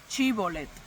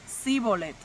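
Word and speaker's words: Shibboleth: Si él respondía no, entonces decían, "Ahora pues, di chibolet." Y él decía sibolet porque no podía pronunciarlo correctamente.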